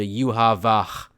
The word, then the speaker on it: Yhwach: you factor in that W's are pronounced like V's in German it becomes extremely clear that they're only using a b sound to approximate a v sound so yuab Baha turns into yuav because Japanese doesn't have